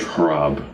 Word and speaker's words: Hrab: So my name is Hrab. Nice to meet you. Hrab.